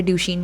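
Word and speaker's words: Duchenne: सब लोग बहुत अलग अलग इसके प्रोनाउंसिएशन के तरीके हैं, बट मैंने जो सबसे तरीका सही सुना है वो है ड्यूशेन मस्कुलर डिस्ट्रॉफी।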